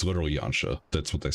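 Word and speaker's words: Yanxia: it uh that's pronounced yancha it's a soft x i like in the Asian pronunciation it's closer to China in terms of pronunciation for how you would pronounce the XI than it would be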